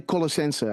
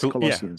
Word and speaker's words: Colossians: And there's that beautiful, how do you pronounce this? We say Colossense. I don't know how you in America are pronouncing this. Colossians, I guess. Yes, Colossians. Yeah, Colossians.